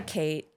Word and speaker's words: Cait: Well, I'm just going by Kate now.